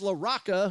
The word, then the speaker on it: Larocca: a 1-1 and a high pop-up that is laraca who will make the catch and there's one